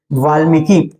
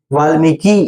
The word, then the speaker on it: वाल्मीकि: लीजिए ठीक है लीजिए वाल्मीकि वाल्मीकि तो वाल्मीकि आपका ये बड़ा नहीं रहेगा ये आपका छोटा हो जाएगा ठीक है तो वाल्मीकि वाल्मीकी वाल्मीकि ऐसा उच्चारण नहीं वाल्मीकि वाल्मीकि ठीक है शीर्षक शीर्षक रखे